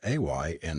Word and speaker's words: Ana: is Ana she added pronouncing it a y na a with the Highland LED in her voice and the twins must